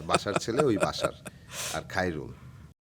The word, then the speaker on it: খায়রুল: খায় রুল, আমি খাই না, খায়, খায় রুল।